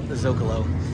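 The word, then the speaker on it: Zócalo: I always mispronounced it Zocalo, but Zocalo is actually a place in Mexico. Did not know that until recently. So that's the way that you would pronounce it, Rancho del Zocalo.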